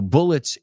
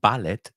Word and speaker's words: bullet: So bullets A1, a bullet es una bala. Just be careful. We don't pronounce it ballet, sino bullet.